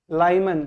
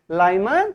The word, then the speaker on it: Lyman: तो ये जो लाइन है, ये जो स्पेक्ट्रम है, इसको क्या बोलते हैं, बोलो लाइमन, क्या बोलते हैं इसको, बोलते हैं लाइमन सीरीज। क्या बोलते हैं लाइमन सीरीज, स्पेलिंग में देख लो एक बार, हाँ लाइमन LYMAN, लाइमन सीरीज।